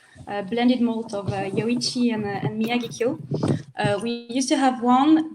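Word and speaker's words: Miyagikyo: How do we pronounce that? Yeah. How do you say that? Miyagi-Kyo. Miyagi-Kyo. Miyagi-Kyo.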